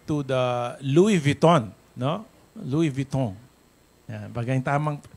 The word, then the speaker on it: Louis Vuitton: Louis Vuitton. Yeah, baga yung tamang pronunciation, Louis Vuitton.